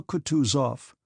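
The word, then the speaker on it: Kutuzov: "General Coutus off," said Bulksky, speaking French, and stressing the last syllable of the general's name like a Frenchman, "has been pleased to take me as an aid to camp."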